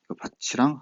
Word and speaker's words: 밭이랑: 밭이랑 하나는 반니랑으로 발음되죠.